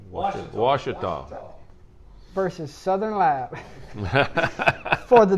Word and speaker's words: Ouachita: I ain't said it right all year. A Wichita Christian Washita.